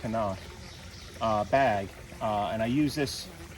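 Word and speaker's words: CNOC: I've got this the Knock, it's C-N-O-C, I think it's pronounced Knock, bag, and I use this to gather the water.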